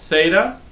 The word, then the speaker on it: Theta: long a sound a Theta has the th sound the the voiceless th sound Theta Yota can be